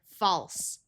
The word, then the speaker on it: false: If there's an A, L, and then another consonant, the A may have the broad sound of ah, like in the word false. The other sound that se